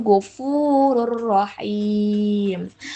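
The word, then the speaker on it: غَفُورٌ رَحِيمٌ: Jadi dibacanya tanpa dengung alias melebur ke huruf selanjutnya yaitu gofurur rohim.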